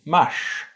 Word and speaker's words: mars: Journey gives you fard, and the month of March is mash.